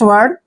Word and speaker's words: weigh: और जब भी EI के बाद GH आता है तो वहां पर GH का उच्चारण हमने नहीं करना है, तो इसको हम पढ़ेंगे वे।